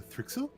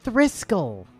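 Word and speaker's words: thrixl: glow bellies do you know the thrixel they're just yeah they've bought them before it's pronounced thrisco we've been over this oh right you're the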